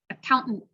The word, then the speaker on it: accountant: botany button accountant accountant so that one's hard because it's a glottal stop and then a hell t at the end right accountant important same thing glottal